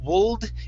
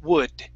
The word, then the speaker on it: would: The L in this word is silent. We do not say would, it's would.